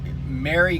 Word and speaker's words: Mary: And by the way, her name is spelled Mary, like Merry Christmas.